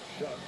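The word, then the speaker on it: Shough: Tyler Shuck, that's how you pronounce it, spelled a little bit differently.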